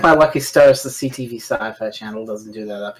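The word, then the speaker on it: Syfy: It's still pronounced sci-fi, but it's spelled Sippy.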